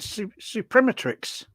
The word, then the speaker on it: Suprematrix: you pronounce this one Ronnie well I I pronounce it supremetrics I mean you could call it Supreme Matrix